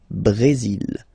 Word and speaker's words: Brésil: Okay, you will pronounce the final L here. And then remember, accent aigu goes like E. Brésil.